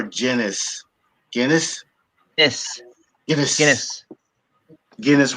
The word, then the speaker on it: Guinness: Guinness with a hard G.